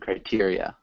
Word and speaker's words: criteria: Yeah, it's more of a long E sound, criteria.